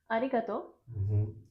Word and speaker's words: arigato: Even if it's written to and u, should be pronounced as to. And the important thing is that the final vowel should have one mora. So it's not, this has one and this has one. So to has two moras. Okay. In total, arigato has five moras.